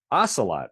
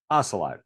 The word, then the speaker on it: Ocelot: And And the correct pronunciation is Ocelot, right? Correct. Ocelot.